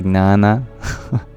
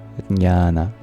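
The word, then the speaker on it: ज्ञान: And even today some people fail to pronounce the J, So they just say gnana. Or they don't pronounce the N and they say jhana. But the Sanskrit word for knowledge is jnana, where we get the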